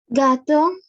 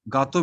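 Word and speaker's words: gâteau: Gato. Gato. Gato Does it means mean cake? exactly. Gato means cake.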